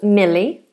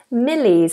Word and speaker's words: Millie: we have the name Millie this is a girl's name Millie and this is a light L Mill mil Millie Millie